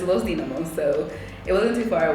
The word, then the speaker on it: Los Dinamos: to these mountains called loamos I keep saying it wrong but it's Lo damos so it wasn't too